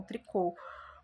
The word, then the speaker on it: tricô: Então, aqui no Brasil a gente usa o termo tricô com esse o fechado, né, com esse ozinho bem fechado.